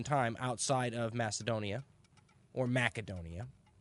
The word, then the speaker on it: Macedonia: outside of Macedonia or Macedonia we in the west have come to call it Macedonia but I think the proper pronunciations with a hard C so outside Macedonia not